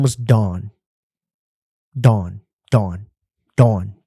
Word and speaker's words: Dawn: Dawn. D-A-W-N. Dawn. You got to say it like that too.